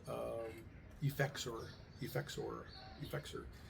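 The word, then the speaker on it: Effexor: It's called um Eexor. Eexor. Eexor. It's spelled E F E X O R.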